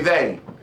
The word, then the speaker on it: they: Say they. They. Them. Them. If you say they, your tongue stays pretty much in your mouth.